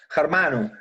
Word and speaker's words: Germano: Dave estava perguntando como é a correta pronunciação de seu nome, Germano. Germano.